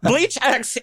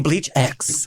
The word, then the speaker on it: BLEACHx: can't write please welcome bleach X yo what's going on okay what the hell is bleach X like what what is bleach X well well the x is silent it was kind of